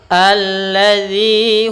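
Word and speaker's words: الذي: Anin naba'il azim alladzi hum fihi mukhtalifun. Alladzi, hati-hati dalam pelafalan zi, jangan diganti dengan zai karena dia bukan huruf zai, tapi za, ujung lidah kita tempelkan di ujung gigi sari.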